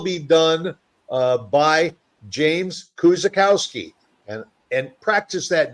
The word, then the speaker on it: Kuczykowski: easy and it's really it's really just the way it's spelled if you just sound it out kakowski you know it it